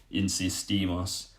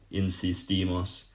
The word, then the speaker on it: insistimos: And again, just with the other verbs, you're going to put a bit more emphasis on the last part of that. So for example, if you're looking at the verb insistir, to insist, we insist is just insistimos, insistimos.